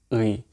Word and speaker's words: ы: But a way to pronounce this, if you say the E letter, E, and instead of saying the normal E, you put your jaw a little bit backwards, like E, E, and you pronounce it from here.